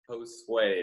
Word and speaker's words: Josue: And I want him to say it again, who repeated his name so that we can all learn how to say it correctly. Josue.